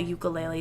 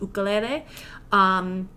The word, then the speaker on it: ukulele: But the ukulele in itself, or the traditional way and how you should pronounce it, I call it a ukulele, but it should be really pronounced ukulele.